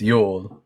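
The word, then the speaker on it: Jul: The J is pronounced like a Y in those Scandinavian um um languages, so it's pronounced Yol.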